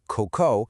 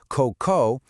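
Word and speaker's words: cocô: But, add a circumflex hat over the second o, coco, and stress that last syllable, coco, the meaning completely changes to, well, poop.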